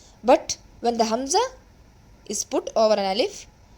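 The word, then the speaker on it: همزة: Hamza. Hamza. See, the hamza explanation is after the za there is a ta marbuta, but we while stopping pronounce it as the ha with the sukun.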